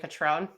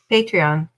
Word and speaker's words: Patreon: Like I just don't know if it's pronounced differently, because you kept saying Patron. Patreon.